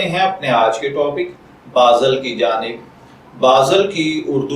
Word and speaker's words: باذل: تو چلیے بڑھتے ہیں اپنے آج کے ٹاپک بازل کی جانب۔ بازل کی اردو املا میں جو